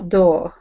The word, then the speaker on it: dough: See, gh is silent. D money. I think many people need to have uh more dough.